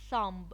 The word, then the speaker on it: thumb: a bread maybe some cookies left over some thumb it's this part of the hand this part of the hand lamb-lamb silent letters practice these silent letters on the book